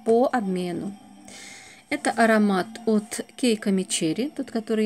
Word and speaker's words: Keiko Mecheri: обмену это аромат от keiko mecheri тот который я получил по моему это марка читается именно так keiko mecheri и сам аромат называется